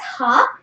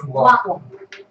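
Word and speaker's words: は: Okay, so when used as a word, okay, you read it as ha, and when used as a particle, you read it as wa.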